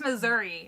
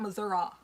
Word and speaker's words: Missouri: And it's Missouri, not Missouri.